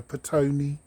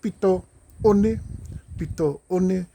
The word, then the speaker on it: Petone: Everyone calls that area Petone. I don't know where they get that from. I don't know, just the lack of ability to pronounce that name. Is Pito One, or the incense. That's what that means, the incense. Sands end, Pito One.